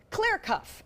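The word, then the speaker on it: CLR_CFF: and unpronouncable name of clear cuff it's like CLR CF F which of course stands for clear coffee without the vowels I learned it was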